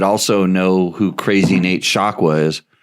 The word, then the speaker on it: Shakwa: him, you would also know who Crazy Nate Shakwa is. It's pronounced Shakwa and spelled the same way.